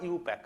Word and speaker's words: IUPAC: আচ্ছা প্রথম কথা বলি ইউপ্যাক বা আইউপ্যাক প্রোনাউন্সিয়েশনটা হয় ইউপ্যাক okay so international union for